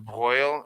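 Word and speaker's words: de Broglie: names because the broal this is pronounced the bral it's actually French so I like my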